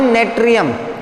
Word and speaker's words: Natrium: Actual नाम है नेट्रियम। क्या नाम है? नेट्रियम। और नेट्रियम की स्पेलिंग क्या होती है?